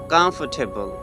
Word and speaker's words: comfortable: So the correct pronunciation of this word is comfortable.